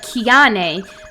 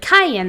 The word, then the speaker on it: Cayenne: It looks like Kiane, but it's actually pronounced like Cayenne the pepper, or like Cheyenne, Wyoming. But without the H or the Wyoming.